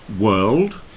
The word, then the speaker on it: world: word and nerd rhyme World rhymes with curled and worm rhymes with